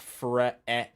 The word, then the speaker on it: friend: to sound it out, there's no I. And it doesn't sound like there's an I in the word friend either. It's not friend. It's not friend, whatever. It's friend. And that's how it's pronounced.